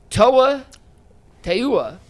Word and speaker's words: Toa Taua: They signed Toa Taua, I believe is how it's pronounced. I looked it up. That is from the Michigan Panthers pronunciation guide.